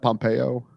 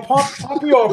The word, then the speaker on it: Pompeo: Boston she went to my high school that Pompeyo Pompeyo no Pompeo Pompeo tomato tomahto however you want to pronounce it Ellen Ellen Pompeo Ellen Pompeo we